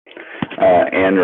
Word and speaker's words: Ayn: The first name rhymes with pine. Upon arriving, Andrew. Ayn Rand.